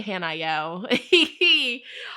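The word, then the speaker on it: Haniel: gifts your psychic gifts Archangel hanel hanel hanel I say hanel all right but it's spelled h n i e l it's a feminine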